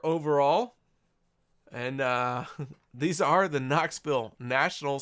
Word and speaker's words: Knoxville: and these are the Knoxville national spelled with a k Knoxville national spelled with a k get it K in because the K silent oh my gosh guys